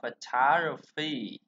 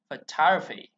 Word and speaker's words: photography: Rồi, chúng ta sẽ đọc là photography. Đó, rồi, photography. Chỉ có hai âm ơ thôi, một, hai, photography.